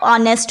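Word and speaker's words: honest: एन ऑनेस्ट मैन, जबकि एच से शुरू हो रहा है, लेकिन एन ऑनेस्ट मैन।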